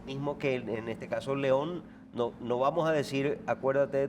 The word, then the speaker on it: León: Eh, porque probes de origen francés tiene otra pronunciación. Nos resolvieron el drama. Es es León.